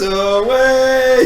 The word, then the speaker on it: aweigh: My boys are anchors away. Did y'all know that away is spelled AWEIGH?